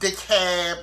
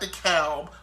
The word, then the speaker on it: DeKalb: It's pronounced DeKalb, not DeKalb, like we give a fuck.